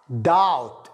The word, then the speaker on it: doubt: I doubt. البي نعم لا ينطق.